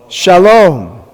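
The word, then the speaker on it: שלום: How do you pronounce it? Sha. Lo. Shalom, which is the word for peace.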